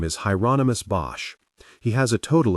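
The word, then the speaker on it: Hieronymus: You said Hyonomous Bosch, like the painter. The second question confused him. I don't know anything about any painter, but that's his name. Rhymes with anonymous, I was told.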